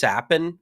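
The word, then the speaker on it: Capan: think I saw that it's pronounced with like an S even though it's a CA an I think his last name is pronounced sapen so I think Frankie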